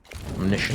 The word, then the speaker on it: omniscient: How does S-C-I-E-N-T become shint? Omniscient.